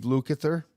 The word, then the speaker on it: Lukather: Like Mark said, Eddie Van Halen doing the solo and Steve Lukather.